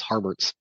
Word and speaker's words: Harberts: sorry uh and and harberts harberts I keep want to call him Herbert but it's harberts uh came on for